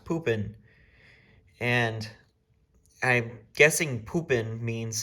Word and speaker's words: Pupin: have this name Pupin, and that's how it's pronounced, Pupin.